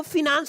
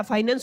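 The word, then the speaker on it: finance: अच्छा, काफी बच्चे कहेंगे सर वो फिनांस नहीं होता, फाइनेंस होता। देखिए एसेंट की बात होती है, आपकी प्रोनाउंसिएशन जहां पे कंफर्टेबल हो आप वो समझ लीजिएगा, फिनांस बोल दीजिए या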